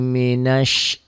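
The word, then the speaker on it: من الشيطان: A'udzu billahi minasy, ini shin ya, bukan sin. Banyak orang yang nggak mau membuka mulutnya, himinas. Ada juga himinas, jangan. Shin ya, bibirnya dibuka lebar.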